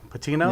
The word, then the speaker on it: Patino: Patino?